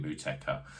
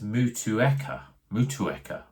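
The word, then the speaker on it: Motueka: refreshing and super tropical now I say mka and someone commented on my post a little while ago about my pronounciation of mka I've always called it mka when I actually look at it I think it's mua mua that doesn't sit sit well on the on the mouth to me so so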